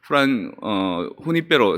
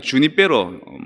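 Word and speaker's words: Junípero: 뭐 그 제일 긴 선교를 이제 했는데 그분이 바로 후니페로 세라입니다. 영어로 하면 주니페로 세라라고 할 수 있는데 스페인 사람들은 J 발음을 그 후음, 그 목구멍 소리를 내거든요.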